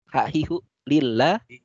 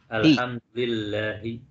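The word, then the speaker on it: الحمد لله: Hahihu lillah. Alhamdulillahi. Masya Allah. Ahsanta. Alhamdulillahi. Jadi li-nya ada di mana? Li-nya ada di depan lafaz atau kata Allah. Harusnya Allahu, karena ada li di depannya, menjadi lillahi. Alhamdulillahi.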